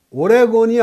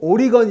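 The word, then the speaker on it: Oregon: 씨아 틀로 표시 했구요 올해 권이 아니고 오리건 인데 항상 올해 권 이라고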